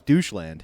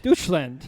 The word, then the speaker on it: Deutschland: You say I thought it was doucheland. Deutschland, yes.